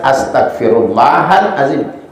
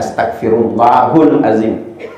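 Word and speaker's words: أستغفر الله العظيم: lebih panjang lagi astagfirullahalazzim saya perjelas Astagfirullahalazim Karena biasa juga saya dengar eh salah baca dia bacanya astagfirullahulazim Lain kali kalau ada yang seperti itu jangan lagi ya yang benar adalah astagfirullahal aim mau lebih panjang lagi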